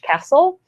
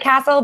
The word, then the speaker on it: CASL: spell it for us it c a l SL sounds like Castle but it's it's four letters just four letters all about Canadian compliance